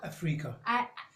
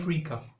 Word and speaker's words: Ifrica: Africa. Pronounce Queen that again. Africa.